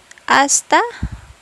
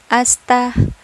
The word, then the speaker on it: hasta: Again, mga kahuwan, hindi binibigkas ang letter H sa salitang Espanyol. So, siya ay magiging hasta pronto.